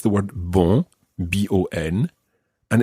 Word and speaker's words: bon: good, and that is bonne. Bonne. And that's spelled B-O-N-N-E, as opposed to bon, which is spelled B-O-N. Listen to the difference between these two words. Bon, bonne. Bon, bonne.